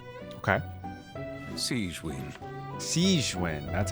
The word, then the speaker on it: Sigewinne: Sigewinne, that's how you say it, okay.